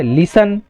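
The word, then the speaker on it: listen: T silent कहाँ होता है, लिसन, ऑफन, कासल, इसी प्रकार से क्या है यहाँ पर टी साइलेंट।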